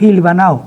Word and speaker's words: hilvanado: con H, hilvanado, y como nosotros la H la pronunciamos como J, le pronunciamos Hilvanao en aquel tiempo.